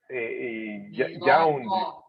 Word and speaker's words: yawned: I yawned. Yawned. Remember the Y is pronounced yeah.